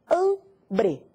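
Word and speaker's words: hambre: te dar outra palavra ambre ambre é fome an e isso muito bem an é a sílaba tônica el ambre outra palavra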